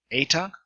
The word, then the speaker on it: eta: Eta, A as in date.